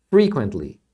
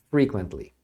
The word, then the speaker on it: frequently: Aí a pronúncia é frequently. A sílaba tônica é a primeira, tá? Frequently.